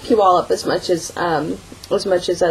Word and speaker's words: Puyallup: It's pronounced Puyallup for those of you who are not in the general area here. I'll type it on the thing. It's pronounced Puyallup.